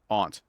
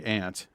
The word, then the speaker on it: aunt: We were raised to pronounce it aunt. And if you say ant, you're a traitor, a bounder, and a cad.